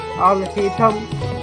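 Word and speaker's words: Alhaitham: Al-Haytham.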